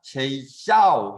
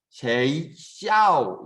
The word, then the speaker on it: 学校: 자, 지금 들어보니까 쉐이샤오 하면서 약간 중간에 목소리의 높낮이가 달라지는 지점이 생기죠. 그렇죠? 다시 学校 네. 쉐이샤오 이렇게 이제 그 음의 높낮이가 달라지게 되는데 중국어 글자에서는 이것을 성조라고 합니다. 성조라고 해서 똑같은 발음이다 하더라도